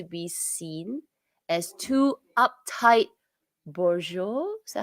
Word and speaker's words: bourgeois: h used to be seen as too uptight bourgeois is that how you pronounce that oh yeah bourgeois okay even by middle-aged women interesting question let